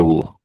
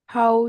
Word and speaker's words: whole: Not we don't really pronounce the W. It says how whole how whole year is broading because